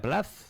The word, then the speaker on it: Plath: Silvia, ¿se pronuncia Plath? Plath.